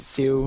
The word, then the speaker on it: Sioux: I'm sorry if I mispronounced that. I think it's Sioux, like Sioux or Oh, Sioux.